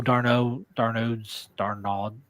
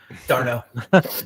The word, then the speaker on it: d'Arnaud: And I don't know Darnaud. How do you say his name? d'Arnaud.